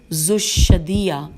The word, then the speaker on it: ذوالشدیہ: ہے یہ رے، المعروف ذوالشدیہ، زال واو الف لام شین، شین پہ تشدید ہے اور دال، اور پھر یہ ہے، تو پھر دوبارہ پڑھ لیتے ہیں کہ نام کے ساتھ کہ المعروف ذوالشدیہ کا بالخصوص ذکر کرتے